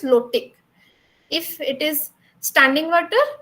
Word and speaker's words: lotic: So you can just um keep in your mind if flow it rhymes with low so that is low tick if it is standing water or it stays it is lentic.